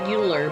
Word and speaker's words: Euler: euler's uh rules or laws or formulas and it's spelled e-u-l-e-r looks like euler but it's spell but it's pronounced euler okay